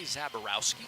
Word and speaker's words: Zaborowski: They say Zaborowski. Zaborowski. Not how it says it in the pronunciation guide, but that's how they say it.